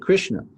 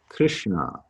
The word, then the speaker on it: Krishna: by the dot under the s and the n is a little bit back in your mouth not right up behind your teeth so krishna as opposed to krishna would be how you would pronounce that okay i'm going to